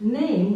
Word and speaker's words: name: The word name was pronounced Name in 1500. It was a two-syllable word. The E was pronounced. And so Name, which is